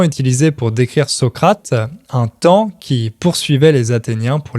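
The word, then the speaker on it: taon: qui pique les gens ça s'écrit t a o n mais ça se prononce comme temps c'est une image qui est souvent utilisé pour décrire Socrate un temps qui poursuivait les Athéniens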